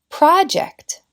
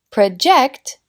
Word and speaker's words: project: un cambio de estrés project es un sustantivo un proyecto project es un verbo proyectar project Project present Es un regalo